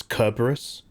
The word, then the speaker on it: Cerberus: And all that happened is that I didn't learn any Latin, but I started pronouncing the C like it was a hard K. Like, not Cerberus, Kerberus.